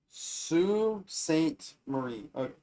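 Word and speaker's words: Sault Ste. Marie: It's pronounced Sue St. Marie.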